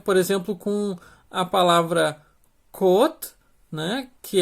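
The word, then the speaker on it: 꽃: vai estar em patim, por isso que ele tem esse som de T seco no final.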